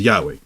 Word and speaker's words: Yahweh: and he got there it is right there pronounced roughly as Y subh or he says Yahweh, right?